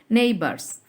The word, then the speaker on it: neighbours: এটার উচ্চারণ হবে নেইবার্স।